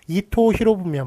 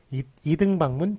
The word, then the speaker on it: 이토 히로부미: 도요토미 히데요시만 맞고, 이토 히로부미만 맞지. 2등 방문 틀려요.